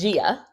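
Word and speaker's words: Ghia: I think it's pronounced Gia.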